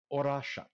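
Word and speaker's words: Orašac: So according to, and I was able to pull up a pronunciation guide from an actual Serbian individual, and yeah, Casey's Google foo was correct. Orashat.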